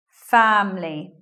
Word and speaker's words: family: people say family but sometimes you'll hear this way family just with two syllables elision of schwa after